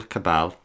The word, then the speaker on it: cabell: el cabell.